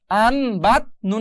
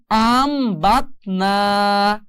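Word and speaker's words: أَنْبَتْنَا: আছে আন বাত না, কিন্তু এই নুন সাকিনের বামে বা আসার কারণে এই নুন সাকিনটা মিম দিয়ে পরিবর্তন করতে হবে। আর সেই জন্য এখন উচ্চারণ হবে আন থাকবে না, আম হয়ে যাবে।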